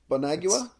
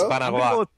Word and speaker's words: Bonagua: Oh, I really wanted you to hear you try to pronounce that third name of his. Bonagua. It's Banagua. Banagua?